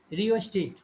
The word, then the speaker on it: rheostat: हाँ आर एच है, RHEOSTAT, रियोस्टेट, इसका अपने को रियोस्टेट बोल रहे, एच को साइलेंट जैसा सोच सकते हो, तो आर के बाद ई ही डायरेक्ट प्रोनाउंसिएशन में आ रहा है।